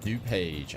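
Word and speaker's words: DuPage: Peter Brett says morning everybody do page is pronounced d page okay thank you very much appreciate that thanks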